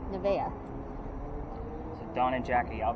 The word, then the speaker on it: Nevaeh: Nevaeh. Nevaeh.